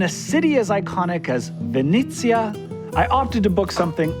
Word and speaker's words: Venezia: See, once you know it's pronounced Venezia, how do you say Venice?